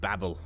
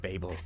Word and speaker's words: Babel: in the tower of babel or the tower of babel depending on what your favorite pronunciation is but i'm to call it babble because it sounds more logical to me anyway we are here